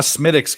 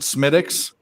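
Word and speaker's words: Smithwick's: like Guinness I'm a smittix guy and by the way if you don't pronounce it smittix you are Yankee they cost it's not spelled that way but you know what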